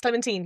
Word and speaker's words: Clementine: Clementine? yes, Clementine, you're absolutely right. That's the pronunciation.